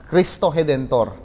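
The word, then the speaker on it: Cristo Redentor: Ang tawag po diyan ay kristo redentor. Pero uh for some reason they pronounce it as Christoedentor.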